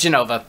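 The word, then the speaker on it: Jenova: We've got Genova next on the list. Is it pronounced Genova or is it J-E-N-O-V-A? I mean, voice acting, so actually, no, it's Genova. It's Genova. I saw Advent Children. It's Genova.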